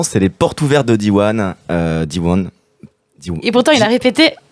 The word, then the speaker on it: Diwan: Donc c'est Diwan avec un petit N à la fin. Diwan.